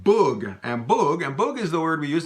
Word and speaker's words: boug: but in Louisiana French, we would say un boug, okay?